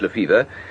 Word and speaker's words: Lefebvre: Spelt Lefebvre, but pronounced Lefevre.